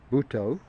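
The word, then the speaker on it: Buddho: And it's said like two syllables, Bhutto. It's spelt with a D at the end and a D at the beginning, but the second D is pronounced to.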